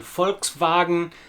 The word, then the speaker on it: Volkswagen: Pay particular attention to the long German A sound in Volkswagen, Volkswagen. It may be different to the way you pronounce an A in your native language. You will also notice our first major difference in pronunciation in that the V sound at the beginning of the word Volk and Volkswagen is very much like an English F, and the W sound